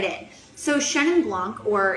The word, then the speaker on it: Chenin Blanc: So Chenin Blanc, or if you want to do the proper French pronunciation, it's Chenin Blanc, which I had to be corrected.